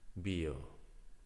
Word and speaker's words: bio: me to pronounce because in Spanish B and V is the same pronunciation.